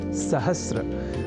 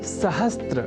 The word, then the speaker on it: सहस्र: करने लगे हैं, और वह शब्द है सहस्र, जिसे सहस्त्र इस रूप में न केवल लिखने की ही बल्कि बोलने की भी प्रवृत्ति या कुप्रवृत्ति बढ़ गई है।